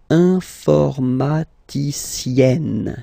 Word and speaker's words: informaticienne: And then, if you look carefully, then here, okay, you will have to double the N. And then add this final E, okay? And you get the sound informaticienne, sienne.